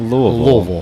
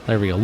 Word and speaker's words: Louisville: live at the first batch release of Old Louisville Whiskey Company. Yeah. Did you say Louisville? Did you say Louisville? Louisville? I don't know I'm where sorry, my that bad. is. Louisville. There we go. Louisville.